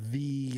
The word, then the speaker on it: Thee: Beyonce and with Megan Thee Stallion. And I pronounce it "the" because she has 2 E's in "the."